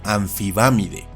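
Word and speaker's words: Amphibamidae: Y lo último interesante que hace la pH es que cuando está precedida por un am, la m se reemplaza con una n. Así esta familia se pronuncia y castellaniza como anfibámide, siendo sus miembros los anfibámidos.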